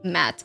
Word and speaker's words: Matt: I thought Matt is like M-A-T-T-E, but this one it's spelled Matt, like M-A-T-T. It's actually Matt.